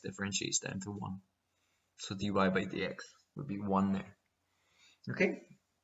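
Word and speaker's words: dy/dx: you get d y over dx which is pronounced dy by dx right and this stands for the differentiation of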